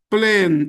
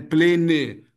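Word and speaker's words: plane: A última letra, quando for a letra E, ela não é pronunciada. Plen avião. Plen, né? Quem faz o teste de proficiência da cal, né? Plene, né? É plen não, hein. Plen. Plen. Ok. Plene, plene. Duas sílabas. Não faça isso, ó. Apenas uma sílaba.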